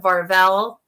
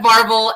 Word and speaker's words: Varvel: the lead is brett varvell varvel i always say his name wrong so i get stuck saying it wrong brett marvel and he just such